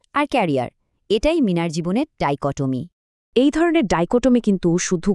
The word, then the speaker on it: dichotomy: চলেন একসাথে উচ্চারণ করি। ডাইকোমি। আর একবার ডাইকোটমি শব্দটা আরেকটু সহজে বোঝার জন্য চলেন মিনার গল্পটা শুনি।